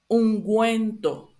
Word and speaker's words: ungüento: So just put this, if you see these two little dots here in the U, it just means that you need to pronounce the U, like a normal U, like U.